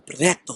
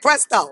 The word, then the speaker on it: PR3TO: So first of all, because you know you got a name like Preto, I was like Presto. He was like, that's not my name. So you gotta tell people how to pronounce it.